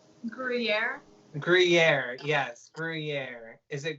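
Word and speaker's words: Gruyères: Gruyere, how do you pronounce it? It's like the cheese. Gruyere?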